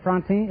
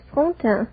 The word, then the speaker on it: Fonte: day miss uh frontier is that right am i pronouncing your name correctly not very correctly it is fonte it's fonte yes you're from the